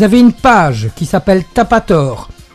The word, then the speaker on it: Tapator: Vous avez une page qui s'appelle Tapator. T'as pas tort, ça s'écrit comme vous l'entendez, c'est pas plus compliqué.